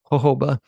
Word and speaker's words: jojoba: out there that it's hoba it's actually native to Arizona so that's why it gets the Spanish J which is pronounced like an h and the company was